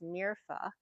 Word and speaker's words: Mirfa: It's actually pronounced Mirfa, and I was spelling